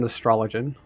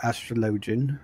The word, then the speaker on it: Astrologian: arr heavensward brought in astrologen or astrologian as they think is the official pronunciation red mage came in